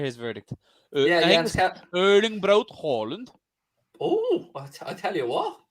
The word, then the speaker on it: Haaland: The 2 A's in Norwegian make it Hall. It's Hall. All right, Jens is the group Norwegian. Let's hear his verdict. Jens Erling Braut Haaland.